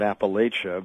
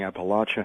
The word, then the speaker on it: Appalachia: Now, many of us, I'm here in Connecticut, we call it Appalachia, but you're saying Appalachia. I mean, it makes certain that we get that right. So I'm going to yield to you on this. It's both pronunciations are completely legitimate. It's a geographical difference, a difference of geographies.